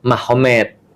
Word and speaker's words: Magomed: Jadi tulisnya magomet tapi bacanya Mahomed kan gitu kan ya.